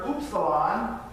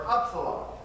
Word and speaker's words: upsilon: This is a little tricky one because there are 2 different ways to pronounce it. It's either upsilon or upsilon.